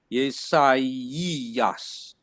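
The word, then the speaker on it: Ἠσαΐας: So that's the full word, but the pronunciation would be yesai, yesaias, yesaias, yesaias.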